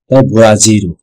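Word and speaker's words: ブラジル: France দিয়েছি France France বোরাজির Brazil বোরা zero হচ্ছে Brazil এই হচ্ছে আপনাদের কাছে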